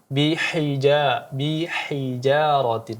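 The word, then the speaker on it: بحجارة: Kemudian bihijarati, ha yang kecil, ha tipis di sini dijelaskan lagi. Bihijaratin, ya dijelaskan.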